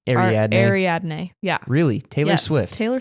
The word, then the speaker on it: Ariadne: Ariadne.